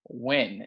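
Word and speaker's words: Nguyen: it is spelled n-g-u-y-e-n win is how it's pronounced right but it doesn't look like it and so they spelled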